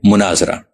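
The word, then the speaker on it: مناظرہ: तरह बोला जाता है मुनाजरा मीम के पेश और जोए के सुकून के साथ मुवाजा मीम के जबर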